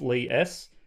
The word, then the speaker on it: Li-S: and i'm pretty sure the correct way is to pronounce it as lee s if i'm wrong i'll